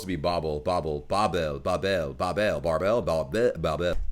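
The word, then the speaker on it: Babbel: okay good job in countries they go by babble like i just said it whereas in germany we actually say babe now the german verb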